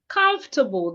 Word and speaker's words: comfortable: And the last word, comfortable. The O and R are silent.